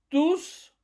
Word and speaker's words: tous: ils sont tous arrivés, tous on prononce le S parce que ça se réfère à un nom déjà cité au pluriel, les garçons qui sont arrivés. Alors en somme vous prononcez le s de tous quand il se réfère à quelque chose à un nom au pluriel masculin.